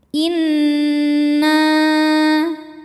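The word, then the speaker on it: إنّا: Inna. Nunnya gunnah musyaddadah karena nun bertasydid. Cara bacanya berdengung, tahan dengungannya kurang lebih 2 harokat.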